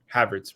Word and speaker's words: Havertz: Whereas Havertz, how does they pronounce his name? I always butcher it. Kai Havertz. Havertz, right?